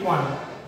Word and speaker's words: one: Though O is a vowel, যদিও এখানে ও শব্দটি হচ্ছে আমাদের vowel, but it appropriate pronunciation, I mean উচ্চারণ এখানে এসেছে ওয়া। কি এসেছে? ওয়া। For this reason we have used here A.